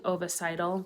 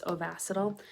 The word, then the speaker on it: Ovasitol: pronounce ovacital um because i think i was saying oviceital but it's ovacital and this one is